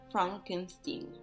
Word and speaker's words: Frankenstein: himself from his legacy Frederick insist that his her name be pronounced Frankenstein after the death of